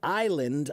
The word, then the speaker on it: island: So the S in island, that was added later. In the 16th and 17th century, they added the S to this word only because they thought it looked more cultured and French. They thought if you add the silent S, that it will make